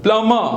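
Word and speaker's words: plumb: date date डम डम प्लम प्लम see here two things are silent now B silent but even the आर is silent it become a नॉन रोटिक sound so what is इट प्लम subtle subtle थम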